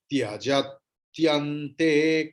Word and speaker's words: त्यजत्यन्ते: Tya is yukta varna, conjunct consonant, ta and ya. So before that what is there? Ja means a. Ja plus a is there na. A means short vowel. तो ta दोबारा pronounced होगा.